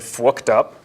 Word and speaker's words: FWKPD: It was a FireWire debugger, but I pronounce it fwooked up, which is like, that's the time that you really need it, when the machine is totally fwooked up, right?